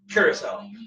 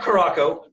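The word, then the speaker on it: Curaçao: the island of Curacao I looked up someone who lives there and how they say it and they said Curacao so it's not Krakow it's not Zura cow it's not curved Krakow it's not Krakow but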